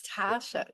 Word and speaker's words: Taasha: I am speaking, it's Dave here from Amplify, and I'm speaking to the unbelievable Tasha Coates, not normal Tasha, it's T-double-A. So it's Tasha. Tarsha, sorry, Tasha Coates.